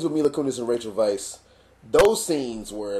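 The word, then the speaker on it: Weisz: okay the scenes with me look and Rachel Vice those scenes were like I was like oh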